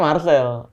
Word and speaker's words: Marcel: C. Tapi dibacanya Marcel.